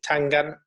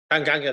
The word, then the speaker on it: Tanganga: don't ask me to pronounce this, because is it Tangana? Tanganga, that's the one.